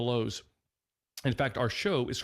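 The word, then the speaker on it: Louhs: of the lowe's and our last name is spelt quite uniquely it's spelled l-o-u-h-s it's the lows in fact our show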